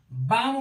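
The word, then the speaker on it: balm: पढ़ते हैं ऐसे ही बी ए एल एम बाम पढ़ते हैं बालम नहीं पढ़ते सी ए एल एम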